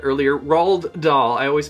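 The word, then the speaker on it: Roald: and so are the I did I say Ronald earlier rald doll I always pronounce that so wrong and then the movie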